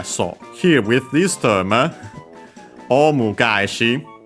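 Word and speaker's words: オウム返し: But yeah, so here with this term, omu gaeshi, which becomes accented on the second, on the first mora of the second word part of the compound, yeah, on the ga.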